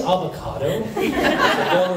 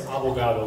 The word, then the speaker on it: abogado: suspect says, she says, did he just say avocado? No, it's abogado, which means attorney.